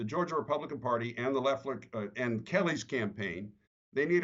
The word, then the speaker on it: Loeffler: And by the way, is it Loeffler or Loeffler? Because I've heard it pronounced both ways. I think it's Loeffler. It's Loeffler. Okay.